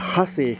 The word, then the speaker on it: Hase: So in front of me are two Delta trikes made by a German company called Hase, if I pronounce properly. It's Hase, okay? Hase.